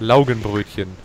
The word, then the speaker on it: Laugenbrötchen: How do you pronounce that? Laugenbrötchen.